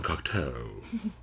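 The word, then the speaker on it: Cocteau: fantasy films we recommend the Jean cocko you have to say it like that you know Jean yeah all right what's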